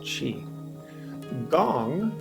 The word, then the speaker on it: qigong: in it let's see that's what we'll call chi gong g-o-n-g spelled gong again pronounced differently in different parts of the world